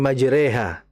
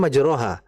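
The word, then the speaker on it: مجريها: Seperti contohnya kan waqolarkabu fiha bismillahi majreha ya kan. Itu kan tulisannya kan harusnya majroha. Cuma ternyata dari sisi bacaan berbeda dan ini sebbut dengan ayat garibah.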